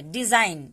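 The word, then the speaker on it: design: अब यहाँ पे देखिए, डिजाइन, इसको हम डिजाइन बोल रहे हैं। तो एन से पहले जब भी जी आए तो जी साइलेंट हो जाता है।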